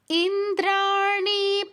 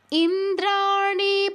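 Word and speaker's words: ইন্দ্রাণী: পতি সদভা পূজিতে পরমেশ্বরী এখানে ইন্দ্রা দীর্ঘ এটাও দীর্ঘ এটা কিন্তু মূর্ধন্য আছে উচ্চারণ ট যেভাবে উচ্চারণ করছেন যে ঠিক যেই জায়গায় স্পর্শ করছে ট উচ্চারণের সময় একই স্থানে স্পর্শ করবে শুধু সাউন্ডটা ভিন্ন হবে ইন্দ্রানী ইন্দ্রানী পতি সদভা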